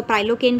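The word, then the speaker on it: prilocaine: के अंदर लिग्नोकेन, मैपिवेकेन और प्रिलोकेन आती हैं, या इसको प्राइलोकेन भी आप प्रोनाउंस कर सकते हैं। Long acting with high potency, वैसे ये प्रिलोकेन ही होगी, या प्राइलोकेन नहीं है तो प्रिलोकेन ड्रग।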